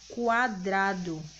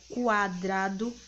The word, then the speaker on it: quadrado: Olha só, em palavras como quadrado, observando atentamente a pronúncia da palavra quadrado, que você ouve tanto o som da letra Q quanto o som da letra U, não é isso? Quadrado, quadrado.